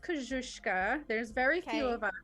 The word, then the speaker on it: Koscuiszka: Yeah, so it's pronounced Koscuiszka.